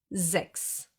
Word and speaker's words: sechs: a word, and a soft S that gets pronounced as an S. Sechs.